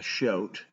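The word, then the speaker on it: shoat: therefore unable to move I realize shout rhymes with goat but it's a weaned Pig a shout ready to maid a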